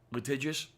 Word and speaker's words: litigious: know America is a litical society um litigious litigious litigious yes that's how that's pronounced okay thank you I